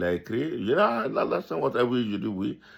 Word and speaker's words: Alassane: C'était très difficile pour lui de dire Alassane Ouattara. Il dit Allah, Allah, Allah, Allah, the son, Ouattara, Ouattara.